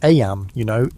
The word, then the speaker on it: Eyam: It's now the summer of 1665, and we find ourselves in Eyam, a small village nestled in the picturesque hills of Derbyshire, England. Eyam, is pronounced just like Eam.